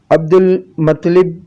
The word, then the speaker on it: عبد المطلب: یا شیبۃ الحمد۔ ان کو عبد المطلب، درست تلفظ عبد المطلب اس لیے کہا جاتا ہے کیونکہ ان کو